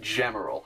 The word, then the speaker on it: Gemerald: And yes, it's pronounced Gemerald, not Gemerald or Gmail or Gmail or what I mean, Gem, Emerald, Gemerald.